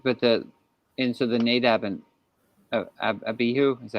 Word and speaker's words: Abihu: no, sorry, but so the Nadab and Abihu, is that how you say it? Yeah. They Avihu. Avihu, are they wearing coats?